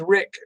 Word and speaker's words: Rick: Troy, my name is Rick. My name is Rick. It rhymes with Dick.